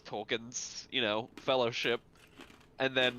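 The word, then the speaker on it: Tolkien: end of Holy Grail facing the RB pronoun Tolen okay I've actually never heard it pronounce that way that's interesting that is the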